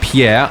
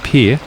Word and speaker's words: Pierre: fact for you here although it looks like Pierre I am well informed by one of the previous things I read that it's actually pronounced Pierre in South Dakota is the only capital city